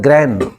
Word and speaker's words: grand: और मारवाड़ी भाषा में रांड मतलब जब गाली एक तरह की, ये शब्द है ग्रैन, और डी साइलेंट होगा ग्रैंड मदर, ग्रैंड फादर।